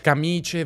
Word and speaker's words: camicie: Camice, valigie, ciliegie con la I e pronunce, mance, province senza I.